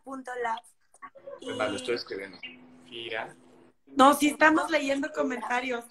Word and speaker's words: FYRA: Se llama, se escribe FYRA punto lab, como la laboratorio, solo la FIRA punto lab. Vale, estoy escribiendo. FIRA.